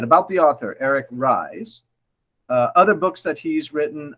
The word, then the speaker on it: Ries: lean startup by eric rise and i had to look up how to say his last name it's spelled r e or r i e s and it's pronounced rise so i went straight